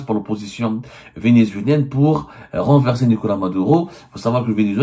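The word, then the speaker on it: Nicolás Maduro: Nicolas Maduro la Nicolas Maduro comme on le prononce en espagnol demeure très controversé.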